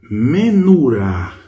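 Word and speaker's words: מנורה: Menurá, menurá, menurá, que é castiçal. Então, essa palavra, você vê, ó, menu, olha aqui, o vav tem aí a pronúncia de u.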